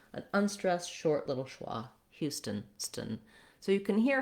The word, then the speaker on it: Houston: A vowel, no clear vowel in this second syllable. You just want it to be an unstressed, short little schwa. Houston, stun.